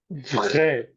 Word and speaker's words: vrai: consonant v, but actually the point is not to force it too much, but instead to pronounce a vibration by biting your teeth on your lower lip.